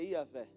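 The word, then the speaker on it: Yahweh: de Deus o nome verdadeiro de Deus é yavé que é a junção de quatro letras y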